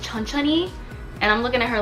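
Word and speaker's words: 천천히: means slowly so i say oh it says chun chun hee and then the girl was like well actually it's pronounced chun chunni and i'm looking at her like i know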